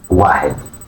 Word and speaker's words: واحد: واحد واحد. This is number one. The pronunciation واحد واحد واحد meaning one. The number one or واحد in Arabic is simple to pronounce and symbolizes unity and singularity.